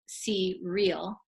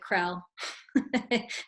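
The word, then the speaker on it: Crel: cue for a relationship re L is for relationship that's why it's pronounced C real rather than I'm gonna admit it I'm just gonna say it I called it Krell and so it's okay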